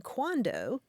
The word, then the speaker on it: quando: meaning a prompt C comes from the Latin quandoo quu a n d o which means when